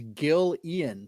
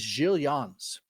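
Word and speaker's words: Gil Eanes: So 20 years later, 1434, um I always read this as Gilian. It's g i l e- an e-s but it's pronounced of course because he was a Portuguese guy is is giillans giillian succeeded in passing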